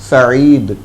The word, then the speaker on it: سعید: سعید جو بتایا آپ نے، سعید ہے وہ تلفظ، سعید، تو یہ نام مناسب ہے، ٹھیک ہے، یہ